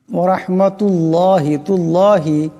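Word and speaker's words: وَرَحْمَةُ اللهِ: মোটা আওয়াজে পড়তে হবে ওয়ারাহমাতুল্লাহ এই আল্লাহ লামকে মোটা আওয়াজে পড়তে হবে এখানে রাকে মোটা আওয়াজে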